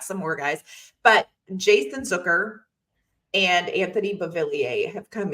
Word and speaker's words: Zucker: pickups let's give a shout out to Jason zooker rhymes with hooker and Anthony boiler I always have